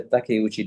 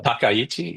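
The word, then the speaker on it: Takaichi: on in the mind of uh Prime Minister Takuchi? Did I pronounce her name correctly? Uh Takayuchi.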